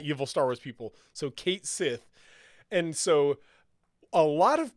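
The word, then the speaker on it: Cait Sith: pronounce it in the game is drum roll Kate Sith they are going to pronounce it as it is spelled they're gonna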